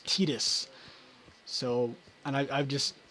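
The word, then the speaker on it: Tidus: who played this game called him Titus and it wasn't until a while later that I uh heard his name was actually supposed to be pronounce tetus so and I I've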